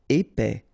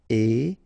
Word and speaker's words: épais: Épais, final S not pronounced, A-E together, épais, épais.